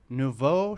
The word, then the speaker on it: nouveau: He calls his acting technique nouveau shamanism, which... Emphasis on nouveau.